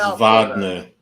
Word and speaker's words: Wagner: It's Vagner. They always say it wrong. It's Vagner. Vagna.